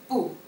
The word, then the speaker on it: 不: The first one, 不.